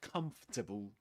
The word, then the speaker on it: comfortable: Let's see if we can make our fibrous friends a bit more comfortable, shall we? A bit more comfortable. Comfortable. Comfortable. Yeah, just three syllables.